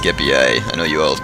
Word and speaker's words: Scipii: My opponent is playing as the Scipii Romans, or as my Latin book says, and I don't like the way it sounds, but so far as they know it was actually pronounced Scipii.